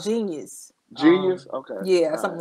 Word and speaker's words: jeen-yuhs: okay all right yeah i think it's called genius genius okay yeah something like that but you